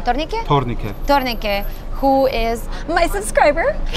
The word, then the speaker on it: Tornike: Tornike.